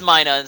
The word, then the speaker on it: Minun: that I mispronounced Minun, because it's Minun, because it's minus, which I called Minun, and everyone's like, no, you're a horrible person.